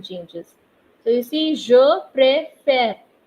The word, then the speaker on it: préfère: So you see, je préfère. There's a difference in the pronunciation of first E and second E. Je préfère.